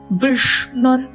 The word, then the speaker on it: विष्णुर्: Vishnur moonu sulinnu naka pinnadi vechu ucharikkanum. Vishnur Vashat Karo Shah ரெட்ரோஃப்ளெக்ஸ் Shah நாக்க மடிச்சு உச்சரிக்கணும்.